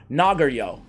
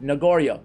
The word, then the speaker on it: Nogoryo: his AOE than uh nagorio is nagario not nagorio dude you know what